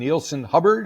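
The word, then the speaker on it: Neilson Hubbard: you made this record with a guy named neelon hubard is am I pronouncing his name correctly you are indeed tell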